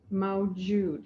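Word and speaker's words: mawjud: with earlier the first one is yamau jude it's spelled m-a-w-j-u-d mao jude m-a-w-j this means making god a reality so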